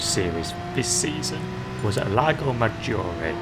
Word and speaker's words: Lago Maggiore: So the first race of the Manufacturers Series this season was at Lago Maggiore, as I'm reliably informed it's pronounced correctly, and we're driving the